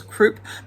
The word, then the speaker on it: croup: I always thought it was croup, but it's coop. When I look it up, there's no R in it.